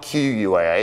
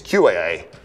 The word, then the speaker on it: QAA: It's not QUAA, because that's ridiculous. It's QAA. It's QU, so that's a Q, anyway, whatever.